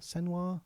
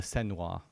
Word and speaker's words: Senua: Her name is it's hard to pronounce her name. It's Senwa, okay.